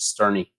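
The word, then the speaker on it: Sterne: only one I know it's Richard Stern II it's yesterday I believe they pronounced the e at the end of it Josh Geary he only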